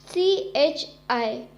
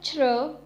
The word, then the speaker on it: chi: Now over here the exceptional case is CHI, has a pronunciation of chr, chr.